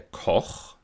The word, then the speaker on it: Koch: Deswegen sagt man zum Beispiel auch der Koch mit Ach-Laut, aber im Gegensatz dazu die Köchin mit Ich-Laut.